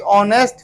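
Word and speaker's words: honest: द पिल्फरर एंड द ऑनेस्ट fellow, ऑनेस्ट पढ़ते हैं, ऑनेस्ट नहीं पढ़ते, एच नहीं पढ़ते, एच साइलेंट होता है, ऑनेस्ट फेलो, एफ के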